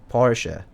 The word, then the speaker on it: Porsche: for a german lesson you have to pronounce the e in part okay porsche okay thank you thank